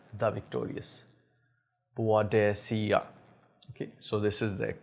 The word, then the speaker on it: Boadicea: boad desia so this is the um actual pronunciation of this company badia the Victorious badia okay so this is the correct pronunciation some